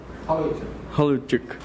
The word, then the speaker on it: Holowaychuk: Como é que é a pronúncia? Holowaychuk.